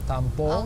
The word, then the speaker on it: tampo: Tampo.